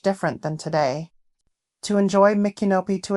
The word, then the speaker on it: Micanopy: Micanopy, and yes, I am pronouncing it correctly, is a very quaint and charming town that boasts of its rich history and antiques.